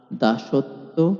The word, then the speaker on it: দাসত্ব: শব্দের মধ্যে বা শেষে ব ফলা থাকলে ব ফলা যুক্ত বর্ণটি দুইবার উচ্চারিত হয়। এখানে খেয়াল রাখবেন ব ফলা উচ্চারিত হচ্ছে না। কিন্তু ব ফলা যে বর্ণের সঙ্গে যুক্ত হচ্ছে সেই বর্ণটি দুইবার উচ্চারণ হচ্ছে। যেমন বিশ্বাস বিতান প্রশ্বাস দাসত্ব ইত্যাদি।